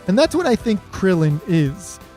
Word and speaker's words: Krillin: And that's what I think Krillin is. It's really easy to read, it's really easy to pronounce. Krill and in are two English words that exist, right?